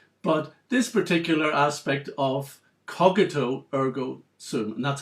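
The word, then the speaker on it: cogito ergo sum: can put aside but this particular aspect of cogito ergo so that's how it should be pronounced if you ever quoting it to a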